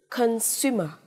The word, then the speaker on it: consumer: Consumer. Consumer. Trọng âm tiết thứ hai. Âm tiết giữa.